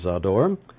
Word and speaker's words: Zádor: Eugene saw door and he says that it rhymes with a door and he comes from